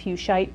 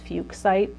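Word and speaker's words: fuchsite: is the totem and Fugue site is that I've some site sometimes called it a few shite but it is fuchs site I looked it up after mispronouncing it for a long time okay look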